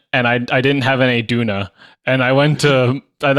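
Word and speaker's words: döner: I went to Toronto and I had some Donut oh God all right you know what we'll we'll get you there on the pronunciation I promise Duna is actually um a Turkish food and it's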